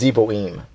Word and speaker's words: Zeboim: Yeah, and that's pronounced Zeboim.